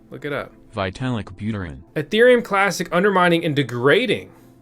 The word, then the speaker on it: Vitalik Buterin: how you say his name look it up vitalik buterin ethereum classic undermining and degrading ethereum strengthens cardano